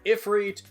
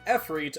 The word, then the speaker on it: Efreet: of the Arabic language, there are multiple spellings and pronunciations for Efreet. You've got Ifrit, Efreet, Afarit, and more. For the sake of this video, I will be using Efreet on the basis that it's the most commonly used name throughout localized Megami Tensei titles.